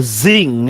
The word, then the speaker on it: Zing: I like how it sounds like a zing. It is Zing. Z-I-N-G. Like a sound effect, Jova.